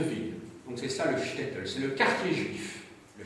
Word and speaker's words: shtetl: Oui, le S se prononce ch, parce que c'est du yiddish, shtetl. Le S c'est ch, comme en allemand.